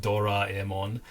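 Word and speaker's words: ドラえもん: that I know you love Tommy that is doron oh yeah and if any Japanese people are listening yes I I'm aware that it's pronounced doraon just is extremely hard to annunciate it like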